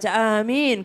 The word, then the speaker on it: Amin: A-nya panjang, min-nya juga panjang.